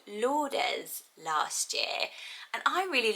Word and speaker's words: Lourdes: know where you're from and how you would pronounce it so it could be lords um which i also like but i love